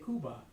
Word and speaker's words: Cuba: you know it's funny I tried really hard to pronounce these things the way the natives would pronounce it but it's really hard for me to train myself to say kuba by 1898 kuba relative rebels it just doesn't sound right Cuban rebels had been